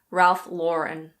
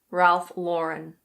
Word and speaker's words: Ralph Lauren: It's Ralph Lauren. Ralph Lauren.